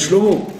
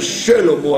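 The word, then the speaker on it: שלמה: Voilà, Shelomo. Vous voyez bien que la plupart des gens bâclent le schéma du début du mot. D'accord? Très souvent les gens disent Shlomo, Shlomo Amelech. Il faudrait dire Shelomo Amelech.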